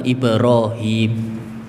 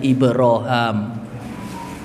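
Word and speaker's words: إبراهيم: dalam ya Lughah Arab yang masyhur adalah Ibrahim sebagian qiroah membacanya dengan ibraham dan ini adalah qiroah Ya sebagian ahlil Ilmi Ibnu Amir dan penduduk-penduduk ya zaman dahulu mereka membacanya dengan ibraham kemudian yang ketiga dengan menghilangkan ya Ibrahim ya dengan mengkasrh kemudian ibraham ya dengan mem fathah dan ibrahum Ini semua adalah qiroah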